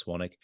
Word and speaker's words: Swanwick: on Instagram at swannick they spill well not they I spell my last name s-w-a-n-w-i-c-k so it's got a silent W in there so it's at swannick and then um the